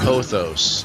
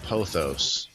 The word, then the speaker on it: Pothos: Pothos. Oh, I'm saying it wrong. Pothos.